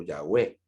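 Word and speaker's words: Yahweh: acudí a la palabra ya veo ya web que sería más o menos la pronunciación del nombre de dios sería el paso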